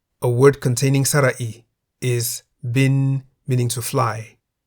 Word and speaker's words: บิน: The single syllable in the word bin is a live syllable because it has a sonorant final consonant no nu. Bin begins with a middle-class consonant bo by mai. Therefore, based on the tone rules for live syllables, bin is in the middle tone.